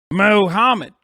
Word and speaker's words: Mohammed: You look like you say Mohammed. Yeah, well, that's right. That is how you say it. The fuck, how else are you supposed to fucking say it? Mohammed.